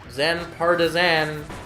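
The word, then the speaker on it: Zan Partizanne: To be honest, it seems pretty obvious how to pronounce her name. Zan Partisan.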